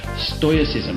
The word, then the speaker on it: stoicism: I am joyous ISM now announced as stoicism because I actually looked up exactly how to pronounce it so always never been sure whether it's FOIAs ism or stoicism but anyway look to cut